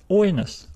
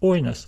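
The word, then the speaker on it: οἶνος: still pronounce it as oinos, oinos. So just remember that if the accent falls on the diphthong, it will be written above the second letter, but we still stress the first letter.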